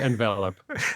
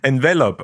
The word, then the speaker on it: Envelop: one uh we say envelop envelop okay well thank you like to the verb to be enveloped en that honestly that